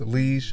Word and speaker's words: Liege: to make liege waffles i've heard it pronounced lige a lot but i'm used to calling it liege so that's what i'm calling it these are delicious and